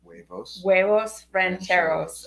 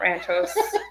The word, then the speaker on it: huevos rancheros: Huevos rancheros. Okay, not ranchos. Rancheros, los huevos.